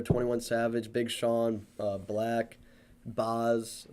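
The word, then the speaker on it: Bas: Yeah, it's like Nelly's gonna be there, 21 Savage, Big Sean, Black, Boz. How do you pronounce it? Boz, B-A-S. I've listened to his music. I've never B.A.S., pronounced it. Boz.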